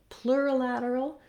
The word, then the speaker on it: plurilateral: Then lastly, plurilateral is like having the word plural at the front, except that we move right into this L of lateral.